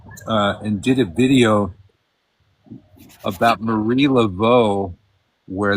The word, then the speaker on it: Marie Laveau: did a video about Marie Laveau, where they drastically mispronounced her name. Mary. What? I think they called her Mary Oh, Laveau. because of that Massachusetts, because of their accent, because they and don't so- sound like normal people.